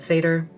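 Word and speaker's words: seiðr: Different people pronounce it different ways. I'm not going to judge you, so please don't judge me. Some people call it Seidr. I personally pronounce it Seidr.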